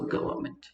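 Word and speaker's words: government: लग गया द गवर्नमेंट जी ओ वी ई आर एन एम ई एन टी एन इ silent ठीक है सो गवर्मेंट I hope it's clear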